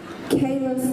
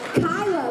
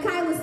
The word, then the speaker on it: Kyla: Am I saying it right? Dr. Kayla? Kyla, look, that's why I had to look over at you. I was like, I feel like I was saying it wrong.